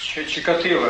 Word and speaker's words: Чикатило: По-украински произносится По украинской мове. Чикатило. Чикатило, да, Чикатило.